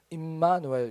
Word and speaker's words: 임마누엘: 하나님 우리와 함께이 임은 어 함께하다는 뜻이고요. 거하다 함께하다 거하다 뭐 그런 뜻이고요. 누는 우리들입니다. 임 누엘은 하나님이죠. 니까 임누엘인데 사실은 임마누엘 이렇게 우리가 발음을 하는 것입니다.